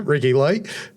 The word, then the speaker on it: Ricci Lee: Is that how you pronounce it, Ricci Lee?